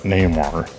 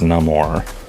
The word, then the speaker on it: Namor: It's a short A sound, not a long. It's not Namor. It's Namor. I know that sounds goofy,